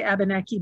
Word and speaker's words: Abenaki: know abunaki history uh by the way i say abeneki because that's how you say it in american english but in uh the avenue language right in french it's a benekey so if if you are